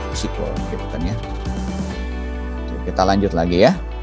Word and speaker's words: SQL: effect.exe dibacanya si kolya SQL nulisnya SQL nih structure query language a penyebabnya bacanya sequel sequel depannya kita lanjut lagi